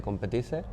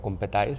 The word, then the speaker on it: Competize: Vale, bueno, pues como dices, soy el fundador de Competice, o Competais, si le quieres pronunciar en inglés.